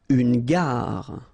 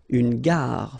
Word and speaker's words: gare: Une gare. Okay, remember when you get these G and A together, the sound is g, ga, ga. Une gare, final not pronounced. Une gare.